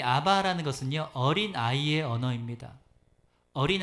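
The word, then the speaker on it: אבא: 그 아람어에는 아바라는 단어가 있습니다. 아바. 뭐 따라할까요? 아바. 그게 우리나라 말로 굳이 번역하자면 아빠 이런 비슷한 말이에요.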